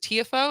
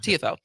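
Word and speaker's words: Tiafoe: as so is it it's Francis is it TFO is that you pronounce it uh Francis TFO TFO so Francis TFO and Dunn Shelton played yesterday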